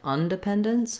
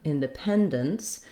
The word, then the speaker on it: independence: In the word in, we're going to definitely use the I sound, because if I used a schwa, it would sound like undependence, which is a different, it's not a real word, but it would be a different word. So with the prefix in and un, you do want to be careful to use I for in and schwa, for un.